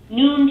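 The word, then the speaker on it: Nuun: other popular electrolytes out there would be LMNT, Noon tablets, which is spelled N-U-U-N.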